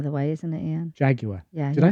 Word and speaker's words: Jaguar: Jaguar. Yeah. Did I say that? No, some people say Jaguar. Did I say that? It's not. No, I'm just saying. It's not Jaguar. 3 syllables.